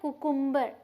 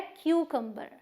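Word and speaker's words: cucumber: लेकिन यहाँ पे वाई तो नहीं है, बट इसे हम क्यू बोलेंगे शुरू में, क्यू, और फिर इसे हम क बोलेंगे। मतलब एक यू की प्रोनाउंसिएशन यू है और एक यू की प्रोनाउंसिएशन अ है, तो ये है क्यूकम्बर। कहाँ स्ट्रेस? क्यू पे, क्यूकम्बर। ओके, जैसे आप सवाल पूछो ना क्यों, तो क्यूकम्बर।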